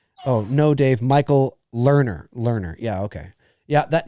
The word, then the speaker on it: Lerner: you say it oh no dave michael lerner learner yeah okay yeah that name rings a bell